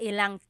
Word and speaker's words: ilang: Instead of mga ilan na tao ang darating, it's mga ilang tao ang darating. About how many people are coming. So that's just a pronunciation tip. Make that contraction to make it flow a little bit better.